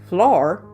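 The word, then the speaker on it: Flor: hypnotizes her current reincarnation floor spelled FL Oh arm pretty sure that's how it's pronounced to get her to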